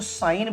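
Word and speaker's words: sign: यहां आप देखो यहां लिखा हुआ है साइन एस आई जी एन। लेकिन जब हम इसको उच्चारण करते हैं, बोलते हैं तो साइन बोलते हैं जी का यूज नहीं करते।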